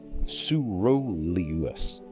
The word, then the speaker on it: coeruleus: It sends inhibitory signals to the arousal centers, the locus coeruleus, pronounced locus, coeruleus, the dorsal raphe, the tuberomammillary nucleus.